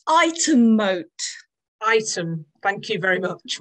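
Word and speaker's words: Ightham Mote: It's pronounced item moat.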